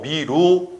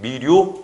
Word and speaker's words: 미루: 그리고 읽을 때 더 미루 원칙, 미류 허용. 이 몸 순행동화 이건 허용됩니다. 미류.